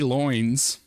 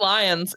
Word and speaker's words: Loins: So Katie Loins, a research scientist at the Georgia. It's just lions. It's lions. Dude. I'm gonna pronounce. It's lions, but loins for comedic purposes. It's lions though.